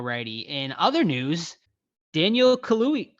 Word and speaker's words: Kaluuya: out yeah all righty in other news daniel kahlui kaluya is that how you pronounce his name he daniel kahlua all right daniel kaluuya uh has been announced he is going to